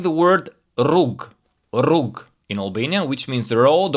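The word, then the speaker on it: rrugë: On the other hand, the double r is very strong.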